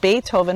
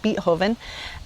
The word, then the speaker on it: Beethoven: Let's discuss, what country is he from and why is his name spelled pronounced Beethoven when it looks like Beethoven.